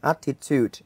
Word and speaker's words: attitude: Thì trọng âm sẽ vào âm tiết số 1. Vậy là attitude là số 1 này.